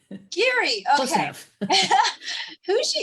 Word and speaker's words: Giere: Is that how I pronounce it? Geary. Geary, Close okay.